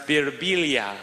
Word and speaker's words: Birbiglia: me they'll be like in Italy it's pronounced bibilia I'm like in America